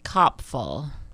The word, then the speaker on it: Copful: It's Copful. Copful. Yes. Full of cops.